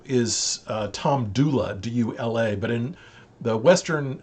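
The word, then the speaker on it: Dula: in western north carolina people often pronounce the a sound as e and so tom doula became tom dooley dooley was from a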